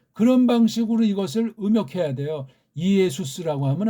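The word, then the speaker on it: Ἰησοῦς: 직역한다고 할 때 그걸 이에수스로 하는 건 어불성설이에요. 일단은 그렇게 출발은 하지만 한 번에 바꾸면 누가 또 꿍꿍거리는 사람이 있으니까 왜 네 성경은 예수가 없냐? 이걸 발음하더라도 이에수스가 정확한 발음이에요. 이에수스. 이에수스 성경 있냐고요.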